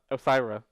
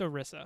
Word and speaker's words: Orisa: And even with the update, even with the announcement of the new hero, Osira, or Orisa, Orisa. however you pronounce it, It's Orisa.